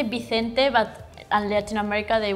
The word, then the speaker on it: Vicente: In the States, we say Vincent. In the UK, we say Vincent. In France, we say Vincent. In Spain, we say Vicente.